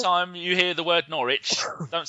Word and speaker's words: Norwich: How do you say it? Norwich. No, that's not. Norwich.